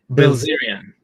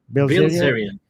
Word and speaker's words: Bilzerian: And then we got another super chat by Karma Shifty saying Dan I don't know pronounce his name. Bilzerian. Bilzerian. Bilzerian.